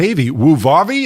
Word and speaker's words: Wuvavi: all right so let's talk to John Santa vwoo Vavi am I saying that right yep that's perfect